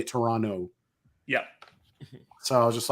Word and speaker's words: Toronto: city in Toronto so you don't pronounce the T you say Toronto yeah so I was